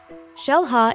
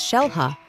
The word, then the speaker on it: Xel-Ha: It is pronounced as Xel-Ha because the name is in the Mayan language.